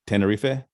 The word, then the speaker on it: Tenerife: G to try and say it correctly ten Tenerife Perfecto uh and that's in the Canary Islands